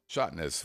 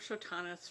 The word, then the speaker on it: Chanis: This is from Shottness, which is not actually how you pronounce your last name, but the way I've been pronouncing it since the beginning. So, I apologize for that.